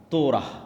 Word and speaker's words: তোরাহ: তোরাহ বলে ইহুদিরা উচ্চারণ করে যে তোরাহ যখন তাওরাত দেওয়া হলো তখন এই তাওরাত যেন তারা মানে এজন্য তুর পাহাড় যে তুর পাহাড়ে ঈসালাম আশ্রয় নেবে।